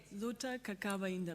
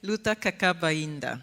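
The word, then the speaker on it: Luta ainda: Luta, inda, but that's the idea that is really difficult. Luta, inda, exactly, which basically means the struggle is not over yet, yeah?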